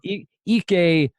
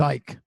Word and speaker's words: Ike: don't blame you yeah most people would have gone with Ike no yeah ek ek Annie BOGO that's a good nice